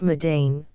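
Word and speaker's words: Mardan: brings the traveler to mden this place pronounced madane is the permanent station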